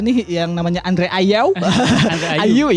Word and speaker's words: Ayew: Ayu ya, itu dibacanya.